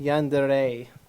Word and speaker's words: yandere: it depends on the context sometimes it's actually pronounced yandere so if you're really generous that there is